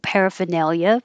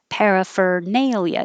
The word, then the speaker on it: paraphernalia: had no idea and i've also never said it with the r in the middle so i've always said parifa paraphernalia but you can say it with the r i did maybe i've spelled it wrong it's not a word i need to use very often paraphernalia you can say fur peripher paraphernalia but you don't have to you can say peripheral which